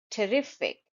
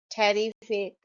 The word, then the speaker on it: terrific: T, terrific. I've heard a lot people saying terrific. It's not that. Terrific.